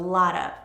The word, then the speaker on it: lot of: I want to drink a lot of water. Notice also lot of does not keep the T sound. We change the T to a D when it comes between two vowels. Lot of, lotta.